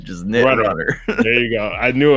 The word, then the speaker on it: Knit Runner: And let me know if I'm pronouncing any of these wrong. Nitrunner. Just Nitrunner.